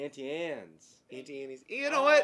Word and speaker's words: Auntie Anne's: You're saying Annie. It's just Ann. Auntie Anne's.